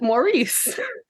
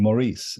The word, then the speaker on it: Maurice: in a footnote that Americans and people across the pond pronounce that differently because I've always pronounced it Maurice well there you are